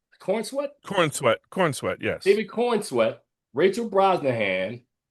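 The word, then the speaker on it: Corenswet: And how do you pronounce this brother's last name? David Cornsweet? Cornsweet? Corn sweat, yes.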